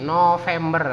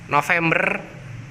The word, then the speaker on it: November: Seperti November, seperti itu. November kadang ada yang menyebutnya November, V-nya ditulis P ya.